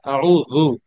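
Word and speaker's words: أعوذ: শাইতানির রাজিম আউজুবিল্লাহ না আউজু মানে জিহ্বার আগাটা হচ্ছে দাঁতের মধ্যে লাগবে আগাটা লাগবে হ্যাঁ আপনি যদি জু বলেন তাহলে জিহ্বার মধ্যখানটা লাগে আর যদি জু বলেন তাহলে জিহ্বার আগাটা লাগে আউজু আউজু আউজু আউজু আপনি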